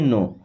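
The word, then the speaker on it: know: यहाँ पे के और डब्ल्यू साइलेंट होता है, इसे पढ़ते हैं नो।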